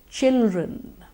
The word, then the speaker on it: children: Children. Children. The D is silent. Children.